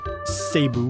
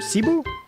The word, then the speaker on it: Cebu: Okay, I did get planes to do Tokyo to Sabu. Is that how you pronounce it? Seeu. Cebu.